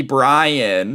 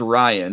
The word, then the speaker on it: Ryan: gosh, you must be Brian." She doesn't even say my name, right, dude? My name is Ryan. She says, "You must be Brian." And I go, "Oh, it's Ryan."